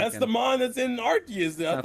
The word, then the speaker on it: Arceus: But because of UK, most people say it's Arceus now because I'm gonna call it Arceus because you just want to be a fucking dick.